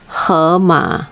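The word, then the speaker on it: 河马: herma okay now her you can also remember like um in english like her h-e-r that you know her food you know those kind of thing so you you say it as her ma except no r okay no our ending so hermit is hippo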